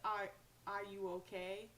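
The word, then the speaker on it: Ayuwoki: like michael jackson and it's pronounced i are you okay from annie are you okay um so the concept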